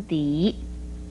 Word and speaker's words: 笛: 笛字的国语注音是的一笛二声笛，笛是用